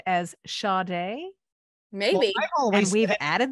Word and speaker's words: Sade: a long time, and the pronunciation of her name to those of us in North America has always been like an invisible R in the middle of her name, Sade.